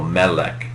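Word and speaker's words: מֶלֶךְ: Segelits, a lot of Hebrew words tend to accent the final syllable, but segelits are a particular kind of word that accent the second to last syllable, melech.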